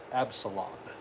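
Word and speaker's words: Absalom: common they're all from Absalon Absalon that's how you pronounce it I think I mentioned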